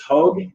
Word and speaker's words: Hoog: Yeah, so it's Hoog, even though it's spelled H-O-O-G.